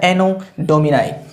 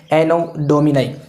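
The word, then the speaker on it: Anno Domini: इसका जो प्रोनाउंसिएशन है वो होता है एनो डोमिनाई, ठीक है। और इसको बोला क्या जाता है? AD बोला जाता है। हम ये तो नहीं बोलते ना एनो डोमिनी।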